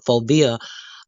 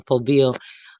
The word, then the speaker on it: foveal: fovea that uh the phobia uh avascular zone let me just pronounce that again because that didn't sound right it's called the phobial a vascular zone thank you the a